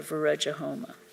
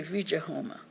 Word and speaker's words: viraja homa: things pleading for the viraja homa which is the fire ritual performed in connection with monastic vows they do not even have the education to pronounce the words viraja homuk correctly they say vija the abbots go through